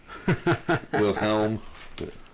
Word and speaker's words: Wilhelm: I'm not sure if it's pronounced William or not. It's because it's spelled weird. Wilhelm.